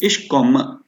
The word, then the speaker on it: ich komme: Um, just to emphasize here, we pronounce it as ich komme. Yeah, komme. K-O-M-M-E is there, but it is, only maybe like 25% of E is pronounced.